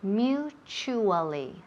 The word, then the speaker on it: mutually: perfect perfect pronunciation there mutually mu so listen here to the first syllable mu mu and then t u that La Te uh it sounds like a cha CH mutually mutually mutually again mutually